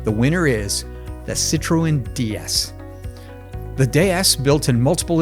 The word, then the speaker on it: DS: Now, the DS, a clever play on words that is pronounced the same as the French word for goddess, was the first mass production car to feature hydropneumatic suspension and disc brakes.